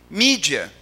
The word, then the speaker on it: mídia: mídia é outra coisa mídia Essa é a transcrição para o português da pronúncia inglesa duplo grau Latino do